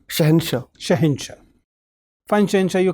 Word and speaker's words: Shahansha: thanks yes sir shensha it is to be pronounced as shensha shensha shahinsha fan chance are you comfortable in english